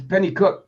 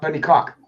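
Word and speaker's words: Penicuik: It's Penny Cook, not Penny Cock.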